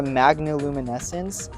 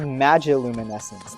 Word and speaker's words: magiluminescence: I've been calling it the magnoluminescence for the longest time, and it wasn't until I rewatched episode 4 after uploading it that I realized it's spelled magiluminescence. There's no N.